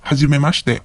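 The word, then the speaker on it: 初めまして: So usually it goes like hajimemashite, watashi wa dare dare desu. So notice that the I in the shi syllables becomes silent. Hajimemashite.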